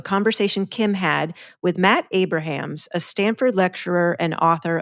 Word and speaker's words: Abrahams: talking with Matt uh Abrams I want to make sure Matt I should know this am I pronouncing your last name correctly I'll respond to anything my family says Abrahams just because it's Abrahams okay Matt Abrahams sorry